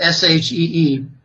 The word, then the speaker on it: Xi: uh with President xiqin ping president she it's pronounced s he exi s she president she met with the